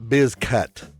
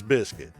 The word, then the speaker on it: Bizcutt: My name is not Bizcut. It's Biscuit. It's pronounced like the biscuits you eat.